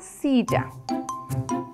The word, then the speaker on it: silla: de dos sílabas y empieza con la letra s y la letra i que juntas suenan si y sigue la l con otra L y una a que suena ya la palabra completa sería s ya perfecto Qué animales